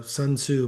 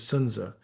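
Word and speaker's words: Sun Tzu: gets back to Sunza the Sunsu most people call him the correct pronunciation is Sunza but it gets back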